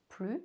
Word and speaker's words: plus: Pronounce plus as plus, no S sound.